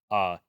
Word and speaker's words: Gottschee: Gottschee. Pronounced Gache. Good chat.